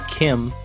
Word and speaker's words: CHIM: Wiki hit me says Chim or pronounced Kim sure is a state